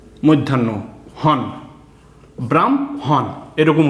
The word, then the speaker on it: ব্রাহ্মণ: ম হ মধ্যান্য হন ব্রাম হন এরকম উচ্চারণ হবে আগে ম এর উচ্চারণ হবে তারপরে হ এর উচ্চারণ হবে হ্যা বয়রাফেলা হম ময়ে